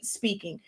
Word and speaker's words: Spinking: ago, which is Honestly Speaking. It's spelled SPINKING. So it's a play on words with the word ink in it, but it's pronounced speaking.